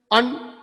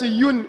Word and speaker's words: un: Say, majority of the people pronounce it as unfortunate un, but at the same time there is united, united. So some people pronounce it as yun also.